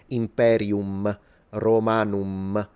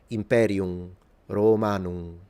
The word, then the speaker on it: Imperium Romanum: So basically, instead of saying, like a modern Italian would, or a lot of Anglophones, instead of saying Imperium Romanum, you don't pronounce the M, we know that the Romans nasalized it. So they would say Imperium Romanum. So it's just, okay? A bit like Portuguese do.